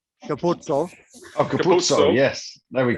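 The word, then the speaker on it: Capuozzo: Yeah, well, I'm really fluent in Italian, so it's Andrew Capuzzo. Capuzzo.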